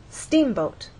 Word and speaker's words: steamboat: In steamboat, you will either look in a dictionary and see that the first syllable is stressed, or hear people speak and they'll say steamboat.